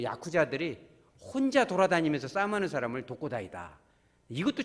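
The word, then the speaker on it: 特攻隊: 그래서 이 특공대를 일본식 발음이 도코다입니다. 되게 슬픈 겁니다. 그래서 이게 일본의 그 야쿠자들이 혼자 돌아다니면서 싸움하는 사람을 도코다이다.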